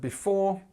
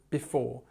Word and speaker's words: before: word before um and we stress the second part of the word so before and we often we don't say before we say before so it's before and it's a i it's quite a sharp I and this is